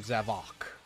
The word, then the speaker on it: Zavok: Also, I just got to say, why do they pronounce his name Zavok? Like, why why is there such an emphasis on the O?